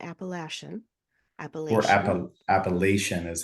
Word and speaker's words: Appalachia: okay all right so we gota get these things straight once and for all not if you're not from the appalache area that's how you say it take it from a